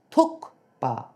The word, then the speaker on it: Thukpa: So guys, it's not tuka, it's tuka t h u kuk p a pa tukpa.